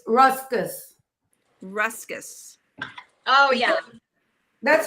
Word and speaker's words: Ruscus: It's ruscus.